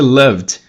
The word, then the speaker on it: loved: Então, por emitir voz, o ED vai ter som de D. O love no passado, então, vai ser loved.